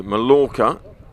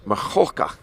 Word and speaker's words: Mallorca: it is to majorca say melorka is spelled m a double l in your spanish but we english put a j on it majorca so it's mojoka but it's double l